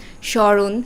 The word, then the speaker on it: স্মরণ: কিছু শব্দ আছে যেমন স্মরণ স্মৃতি শ্মশান শশ্রু অর্থাৎ শব্দের প্রথমে যেখানেই ম ফলা বসুক না কেন সেই ম ফলার উচ্চারণটা হবে না দ্বিতীয় শব্দ ছিল অকস্ত